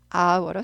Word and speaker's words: hour: 그거는 hour로 씁니다. hour. H가 묵음 발음이 안 나요.